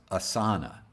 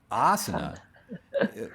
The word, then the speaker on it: asana: used to the word asana is actually frequently mispronounced as asana asana is a small hot room that you sit in for as long as you can stand it but asana is the name for a seat technically or